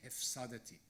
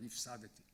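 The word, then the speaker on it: הִפְסַדְתִּי: He writes a few years ago about hervachti, hefsadati, instead of hirvachti or hifsadati.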